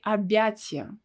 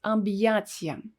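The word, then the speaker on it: объятия: words like abiyachia hugs abbyacia abbyacia so if you read it without this hard sign it will be arbiatzia but we need to read it as ambiation there is a common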